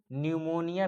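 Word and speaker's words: pneumonia: PPLO माने pleuro निमोनिया P silent कह लेंगे।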